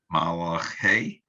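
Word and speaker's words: מַלְאֲכֵי: And people will pronounce these words as though they're the same thing.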